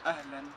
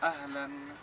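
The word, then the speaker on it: أهلا: Marhaba, o si no en Marruecos se dice también ahlan.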